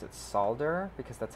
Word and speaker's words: solder: focus here okay so i'm just going to solder two wires together to show you how it works i've heard people pronounce it solder because that's how it's spelled but i think